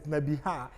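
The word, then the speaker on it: נְבִיאָה: From Nabi, the prophet, which is Nabi, carries kames, but when it's come to the prophetess, Nebiha, the kames drop to simple shua.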